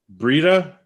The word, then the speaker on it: Breda: do you say your last name uh brita breeda yep okay i've heard it said about a